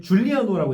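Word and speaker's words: Giugliano: 그다음에 제일 에이스라고 할 만한 선수가 등번호 10번에 마누엘라 지우글리아노라고 썼는데 줄리아노라고 읽더라고요.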